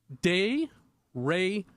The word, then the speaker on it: derecho: It's de-re-cho. That's how you're supposed to. That's difficult. De-re-cho. I think I was adding an extra syllable in there.